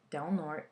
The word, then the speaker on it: Del Norte: Pardon the mispronunciation, but where I grew up, it's pronounced as Del Norte County.